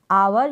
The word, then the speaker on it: our: Next हमारे पास word है OUR, आवर पढ़ेंगे इसको, आवर या फिर आर, इस तरीके से भी इसका प्रोनाउंसिएशन होता है।